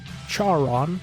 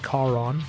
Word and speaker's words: Charon: That character's name was Charon, as it's pronounced in the film. I've always thought it was Charon, actually Charon, who is the name in Greek mythology ascribed to the ferryman who takes you down the river Styx, the ferryman that you